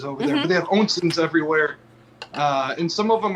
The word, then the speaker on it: Onsen: this is Steven Go, the founder of ONSEN Labs. ONSEN. ONSEN. Onsen. Yes. German pronunciation. I stand corrected. Thank you. Japanese, actually. Onsen in Japan is what they call a hot spring.